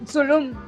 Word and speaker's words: Zulum: Zulum, sí, así Ajá. como Tulum.